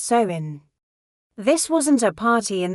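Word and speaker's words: Samhain: They celebrated a festival called Samine, pronounced sewing.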